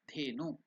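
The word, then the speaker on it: धेनु: Dhenu. Again, how to pronounce that? Dhe. It is not they. It is The Mahaprana.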